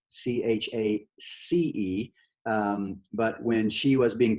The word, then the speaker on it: Chace: Okay, her name is Chace, spelled with a C, Chace.